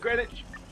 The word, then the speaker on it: Greenwich: green is Greenwich well if it was Greenwich why is there a w a good question it's spelled Greenwich that's the English language for you that's how it's supposed to be pronounced probably no you do